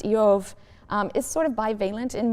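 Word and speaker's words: איוב: The name Job, which in Hebrew is pronounced Eov, is sort of bivalent in meaning.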